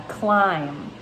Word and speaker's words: climb: reading let's say uh climb climb his that silent b on the end that might be tricky